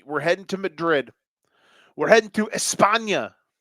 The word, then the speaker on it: Madrid: It ain't Madrid. It's Madrid.